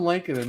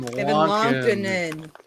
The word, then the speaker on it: Lankinen: It's Kevin Lankinen. No, it's Kevin Lankinen.